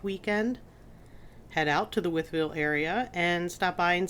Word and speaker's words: Wytheville: the June 8th weekend head out to the wvil area and stop by and say hey if